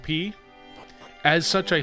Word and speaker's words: pi: Um, apparently the Greek letter is more correctly pronounced P.